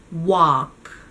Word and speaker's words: walk: on the right track just one thing to notice is that the l and walk is silent so again it's a